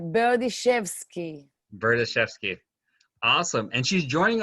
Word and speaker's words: Berdishevsky: a lot for people what about you right berdychevsky bertaszewski awesome and she's joining us from israel